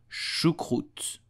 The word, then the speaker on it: choucroute: So you will say choucroute.